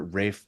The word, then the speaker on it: Ralph: And then when you pronounce it when you say it with his last name, it comes out correct, but it's Rafe here.